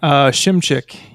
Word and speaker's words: Shimchick: Shimchick is how it's pronounced.